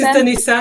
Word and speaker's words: Denisa: Am I pronouncing that correctly? Yes, it's Denisa.